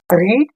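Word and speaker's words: read: अब इसको रीड, रीड हो गया, रेड हो गया, रीड हो गया, रीड रेड रीड, इस तरह से आपको पढ़ना है। ये जरूरी है कि स्पेलिंग से नहीं, पढ़ने का जो प्रोनाउंसिएशन है वो चेंज रहेगा।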